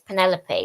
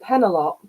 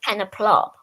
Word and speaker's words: Penelope: the traditional pronunciation but penelop that that's quite um that surprises me I even had pen a plop once which probably start calling